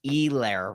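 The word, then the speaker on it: Helaire: uh i mean clyde edwards e-lair remember you're there you're there i think that you also the h is silent uh uh it is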